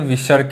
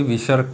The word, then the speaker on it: विसर्ग: तो जो आह होता है 2 बूंदी, उसे विसर्ग कहते हैं। यह स्वर के बाद ये भी आता है, ये भी एक प्रकार का व्यंजन होता है और इसका उच्चारण हा की तरीके होता है, जैसे प्रातः।